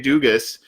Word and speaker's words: Dugas: out in particular but O'Shea Dugas or Duga however you want to say his last name I've heard it pronounced both ways he got some work